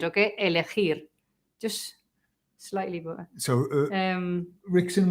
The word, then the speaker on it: elegir: And remember to pronounce the R at the end, okay? Elegir.